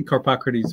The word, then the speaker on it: Carpocrates: an upcoming monograph about Carpocrates. Is that how you say his name? I say Carpocrates, but any way you can manage it, it's a tough one.